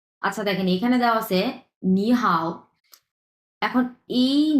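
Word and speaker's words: 你好: আয়ত্ত করতে পারবেন আচ্ছা দেখেন এখানে দেওয়া আছে নি হাও এখন এই নি এটা হচ্ছে তিন নাম্বার টন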